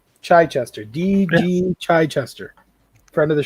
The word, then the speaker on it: Chichester: Derek heard him pronounce his last name last week at a convention. So how does it go again? Chichester. Chichester.